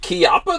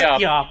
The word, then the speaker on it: Chiappa: Is it Chiappa? That's how you're supposed to say it? It is Chiappa. It's Italian. It's pronounced Chiappa.